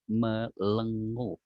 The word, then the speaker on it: melenguh: Jadi patung sapi itu menurut mereka bisa melenguh. Bukan mengeluh, Mbak. Jadi bacanya mengeluh, melenguh. Beda dong gitu ya.